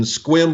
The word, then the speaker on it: Sequim: So in 1977, in Washington State, in Sequim, Washington, and if you're wondering if that's the right pronunciation, it absolutely is.